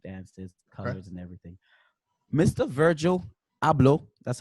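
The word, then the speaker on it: Virgil Abloh: things you can look up the gone tribe is spelled GA tribe very beautiful culture expressive dances colors and everything mr. Virgil hablo that's how you say his name Virgil hablo that's how you say the Ghanaian way in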